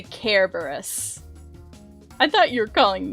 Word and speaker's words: Cerberus: no i said care care barris kerberos or do you pronounce it cerberus i say care burris i thought you were